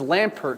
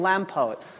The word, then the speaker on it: Lampert: younger at that time I could not pronounce the r sound clearly I was shy as a kid because my last name is Lampert so I said I'm Lampo it's a pleasure to